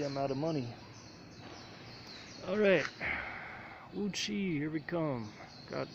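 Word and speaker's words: Wuqi: The Wuxi, I think it is. Yeah, I'm saying it wrong. Anyway, the U-Bike station is in front of the district office. Yes, Wuchi. There we go.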